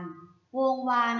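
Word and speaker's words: วงศ์วาน: คำ ต่อ ไป ค่ะ คำ ว่า วง วาน วงศ์ วาน อ่าน ว่า วง วาน วงศ์ วาน ประกอบ ไป ด้วย วอแหวน งมู สอ ศาลา การันต์ โกลด์ แหวน สระ อา นอ หนู ค่ะ วงศ์ วาน ไม่ ได้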